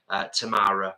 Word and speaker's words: Tamara: Tamara rhymes with Kamara.